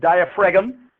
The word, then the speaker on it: diaphragm: yep the diaphragm and if you want to spell it right you've got to stay Daiya for Egham all right you got to say it like that or you will miss the gene if you sound it out like I always do so it's diaphragm and